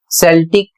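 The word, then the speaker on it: Celtic: अगला शब्द है सी ई एल टी आई सी सेल्टिक एक प्रकार की प्राचीन भाषा है।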